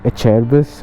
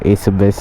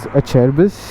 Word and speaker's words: Acerbis: Now this is a bag that I recently got, and it's from Acerbis, or we can call it Acebis, but the actual pronunciation is Acerbis.